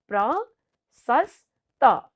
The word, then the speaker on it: प्रशस्त: है ल हेर्नुहोस् त प्रशस्त प्र सस् त हामीले यसलाई तिन पटकमा